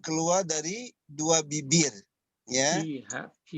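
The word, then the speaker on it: فيها: Fiha. Jadi kalau dilatih pengucapannya menjadi pakai huruf F, ya, F. Bukan pakai P, tapi F.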